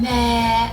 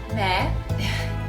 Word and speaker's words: Meghan: People were saying, meh, it's not meh. It's pronounced me. The H is silent.